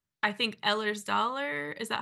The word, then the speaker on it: Ehlers-Danlos: between endometriosis and other conditions like I think Ehlers-Danlos, is that how you pronounce it? Ehlers-Danlos, yeah.